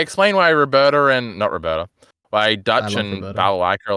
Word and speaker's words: Balalaika: Balalaika? Is that right? Balalaika.